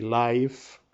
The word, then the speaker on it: live: radio o televisión y Live en este caso pronunciado Live significa en vivo en directo si lo enunciamos sería vivir see next